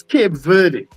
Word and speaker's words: Cape Verde: You had said you had tried to pronounce a a team earlier on and I had said quote Devoir. Apparently it's Cape Verde.